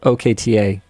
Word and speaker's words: Okta: yeah I thought so Arbiter K says it's pronounced quote okta endquote thank you very useful the show is